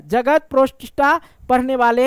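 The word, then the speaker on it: Protista: ठीक है यहां देखो मेरा प्रोनाउंस थोड़ा गड़बड़ है मेरे भाई अब कोई कमेंट मत प्रोटिस्टा होता है ठीक है प्रोस्टा हम पढ़ते हैं अगर स्लो बोले तो ठीक आएगा ठीक है जगत प्रोटिस्टा प्रोटिस्टा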